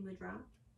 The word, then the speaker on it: mudra: This is Anjali Mudra. It's actually pronounced mudra, I learned. So if you catch me saying mudra, just know that I'm trying to correct myself.